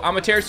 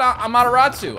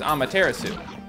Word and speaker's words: Amaterasu: it wrong or something i used to call it a mataratsu i like the mataratsu and people were like that's not how you say that and i looked it